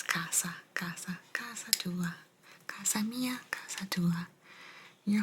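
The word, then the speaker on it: casa: Kasa Kasa is home Kasa almost like you pronounce it c a z a Kaza but it's Kasa kasaa Kasa Mia Kasa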